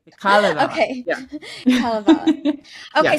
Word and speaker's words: Kalevala: I'm pronouncing it Kalevala, and you're saying Kalevala? You're absolutely right, because I just said the stress is always on the first vowel. So you're absolutely right. The Kalevala.